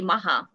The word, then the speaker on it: Maha: thank you dr vicha you pronounce it right and that's the easiest way to say my name just say maha so on behalf of